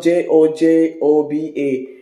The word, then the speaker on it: jojoba: I know it's spelled J-O-J-O-B-A, but it is pronounced jojoba oil.